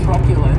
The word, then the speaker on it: truculent: the next adjective is truculent and this word has three syllables and the stress is on that first syllable keep in mind that